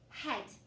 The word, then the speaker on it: head: Sometimes it makes a short E sound. E, not a long E sound, a short E sound. So try it in this one. Sound it out. H, E, D. Head.